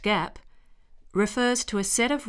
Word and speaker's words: GAAP: generally accepted accounting principles or gaap pronounced Gap refers to a set